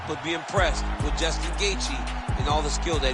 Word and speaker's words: Gaethje: be impressed with Justin Gaethje and all the skill that he showed today. No doubt. And Bob, don't get sensitive. We all know the J in Gaethje is silent.